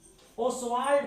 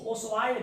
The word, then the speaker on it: Ostwald: और दूसरा प्रोसेस होता है ओस्वाल्ड प्रोसेस, हिंदी में इसी को ओस्वाल्ड विधि कहते हैं। टी नहीं हम लोग पढ़ेंगे, साइलेंट।